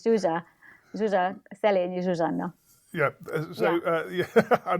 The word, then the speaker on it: Zsuzsa: Why don't you pronounce your name for me? It's Zsuzsa. It's Zsuzsa.